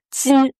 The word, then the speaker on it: 金: Tin tin. Premier ton J I N.